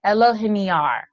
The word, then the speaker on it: Elohiniar: But Elohiniar, that's the Yes. correct pronunciation.